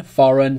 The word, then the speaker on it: foreign: Remember, G is not pronounced when it comes before an N. Champagne, foreign, sign, design.